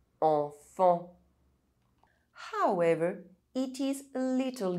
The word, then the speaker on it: enfant: Otherwise, EN is pronounced en. Argent. Sentir. Gencive. Enfant.